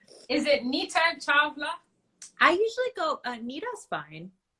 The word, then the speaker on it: Chawla: Yeah, so it's pronounced Chawla. The W is kind of like a V. Chawla. Yeah, I know nobody knows that, so it's It's the Indian thing. The V and the W is switched.